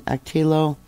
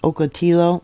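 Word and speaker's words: Ocotillo: to Highway 78 in atillo Wells actually I think it's pronounced okao Wells Highway 78 so that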